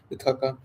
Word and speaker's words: Ithaca: And reaching the Ithaca, she took her stand.